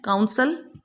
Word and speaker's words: counsel: 17th number पे है, दोनों की same pronunciation. काउंसल, काउंसल. काउंसल COUNSEL means मशवरा या वकील.